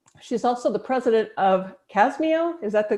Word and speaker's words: CASMEO: She's also the president of CASMEO. Is that the correct way to pronounce it, Brandy?